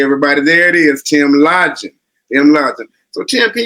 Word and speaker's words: Lodgen: right close it's uh it's Lodge in lodging okay everybody there it is Tim lodging I'm lodging so Tim